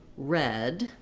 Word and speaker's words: read: So we do also have this read, present tense, can be pronounced or can also be past tense read, which is the same as the color red.